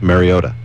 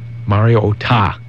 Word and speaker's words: Mariota: Mariota. Mariota. Mariota. Not ta. No. Mariota. Oh, dear. Say it with me now. Say it. I hear too much ota there. It's not ota. It's Mariota.